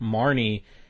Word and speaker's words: Marne: Marne and Edward Marne I said that name wrong I said Marty at first Marne Marne yeah and Edward